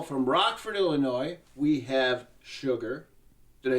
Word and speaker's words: Suga: First of all, from Rockford, Illinois, we have Sugar. Did I say it right? Sugar.